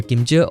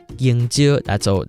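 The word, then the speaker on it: 芎蕉: Okay, so Kim-tsio or King-tsio, that's fine, okay? Both pronunciation are good.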